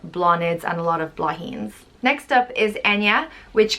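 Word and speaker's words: Bláithín: which means little flower it's prince blah heen blahin and it's spelled b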